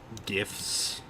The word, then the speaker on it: GIF: uh she's talking about GIFs, the file format, and I she she types JIF and I reply that it's GIF even though she pronounces it JIF.